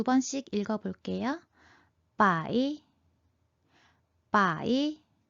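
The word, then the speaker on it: 百: 100은 빠이, 빠이, 빠이. 1000은 첸, 첸, 첸. 만은 완, 완, 완. 우리말과 굉장히 비슷하죠? 다시 한번 두 번씩 읽어볼게요. 빠이, 빠이, 첸, 첸, 완, 완.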